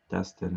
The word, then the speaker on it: Destin: Destin is how my name's pronounced, Destin.